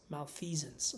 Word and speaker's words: malfeasance: Malfeasance. So it's a Z.